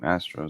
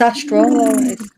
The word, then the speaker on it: astral: It's his name, Astro. So basically, you're just riding on his back. You travel with him. It's not astro. It's astral. It's astral. It's just the way I pronounce it.